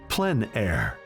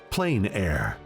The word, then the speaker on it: plein air: open air or outdoors the French pronounce it plenn air others say plein air no matter how you